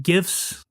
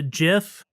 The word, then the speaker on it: GIF: you seen the the gifts and I'm sorry if anybody's listening that wants to pronounce a jiff I don't agree with that it's gif to me anyways so have you